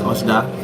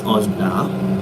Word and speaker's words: Ushda: My Instagram handle, that's Oshda, USHDA. That's Oshda on Instagram, and on Twitter, Oshda, but it's spelled USHDER. One is DA, the other one is DER.